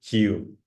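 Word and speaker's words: queue: just the line okay this is Q this is a very British word and you pronounce only Q okay and Maria Gracia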